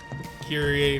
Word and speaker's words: Kyrie: They're pronouncing it like the Latin word Kyrie, meaning Lord.